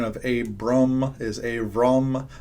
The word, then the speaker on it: Abram: pronunciation of Abram is Avram. The better pronunciation of Abraham is Avraham.